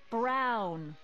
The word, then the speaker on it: Brown: That's Emmett Brown. Rhymes with clown, she's looking for someone.